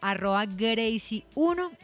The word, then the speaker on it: Greeicy: En Instagram estoy como @Gracie1, que se escribe GRWICY1.